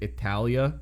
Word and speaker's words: Italia: They pronounce it Italia instead of Italy, which is like really pretty.